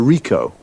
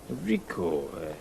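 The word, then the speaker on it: Ricoh: a camera what make a model it's a Rico Rico how do you spell that r i c o h okay got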